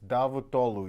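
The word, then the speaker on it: Davutoğlu: like davidovich in Russian it's davotolu you don't say the g that's hiding there between the O and the L okay four easy ones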